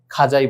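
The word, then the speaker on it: خواجہ: উর্দু ভাষার যে উচ্চারণ সহিভাবে করতে হলে আমাদেরকে এটাকে খাজাই বলতে হবে।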